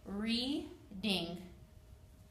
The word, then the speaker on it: reading: The A is silent. There's only two syllables, reading. Next is the word people.